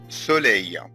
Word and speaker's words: soleil: Le soleil, ناخد بالنا من ال E-I-L تنطق أي. soleil, soleil, le soleil.